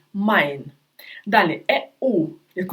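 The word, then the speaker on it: Mai: так е і наприклад як у слові Май е і читається як ай Май далі еу як в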